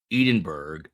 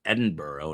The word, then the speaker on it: Edinburgh: Is Edinburgh? Edenburgg. Not Kevin Readington says Edenberg. I don't know anyone who calls it Edenberg. Other than Kevin Readington, it is Edinburgh and it would be